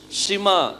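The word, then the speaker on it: שמע: அப்ப இது என்ன உச்சரிப்பாங்க ஷிமா இதுக்கு சவுண்ட் கிடையாதுல இது ஐனுக்கு சவுண்ட் கிடையாது there is no sound so ஷிமா ஷிமா அப்படின்னா ஹியர் ஷிமானா என்னது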